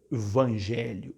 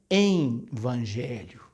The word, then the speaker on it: Evangelho: gente sobretudo liderança Pastoral dizendo envangelho como se tivesse entre e o e o e o v1nni não tem eh e Evangelho não é em evangelho presta atenção que você vai ouvir muita gente dizendo isso em evangelho em vez de dizer evangelho parece tão Óbvio es Mas acontece as pessoas trocarem a as letras aí enfiar um n onde não existe então a palavra obviamente